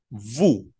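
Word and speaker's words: vous: segunda persona se pronuncia Vu con v pequeña Vu como pueden ver esas eses no suenan nu y Vu solos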